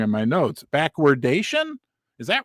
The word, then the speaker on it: backwardation: It's backwardation. It's not backwardization.